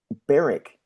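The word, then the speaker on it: Berwick: eastern football league um beric. Now beric uh apparently called the wickers which is one of those strange things where you don't actually pronounce the w in beric but you do pronounce the w in wickers.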